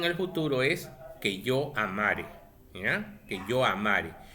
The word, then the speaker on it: amare: Y en el futuro es que yo amare. ¿Ya? Que yo amare. No lleva tilde, no es amaré. Amaré es un futuro simple.